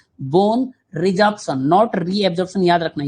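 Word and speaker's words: resorption: Bone रिजॉर्प्शन नॉट रिअजॉर्प्शन। मैं बार-बार बोल रहा हूं। मिस्टेक होता है। ऐसा लगता है गलत है। नहीं this spelling is correct. Bone रिजॉर्प्शन बोलते हैं इसको।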